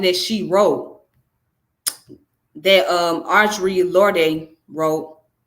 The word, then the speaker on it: Lorde: This is something that she wrote, that Audre Lorde wrote. I keep saying Lorde because that's how it's pronounced in the foreign name, but it's Lord.